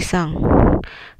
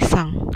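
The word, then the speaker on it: さん: Di sini misalnya Doni sang ya, bukan san tapi sang, dibacanya sang, Doni sang.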